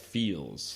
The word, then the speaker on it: Pheels: Pheels. Pronounced Feels.